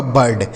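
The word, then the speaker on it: bird: यह लिखा गया आपका बर्ड। इसे बीड नहीं पढ़ा जाएगा।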